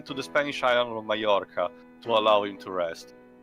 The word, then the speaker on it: Mallorca: During this time, Sand took Chopin to the Spanish island of Mallorca to allow him to rest. It's pronounced with a, J, sort of. Or Y.